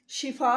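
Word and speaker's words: شفا: तो इसीलिए हमने, आप किसी को दुआ देनी है तो शिफा कहना है, ना कि शफा बोलना है, शिफा बोलना है।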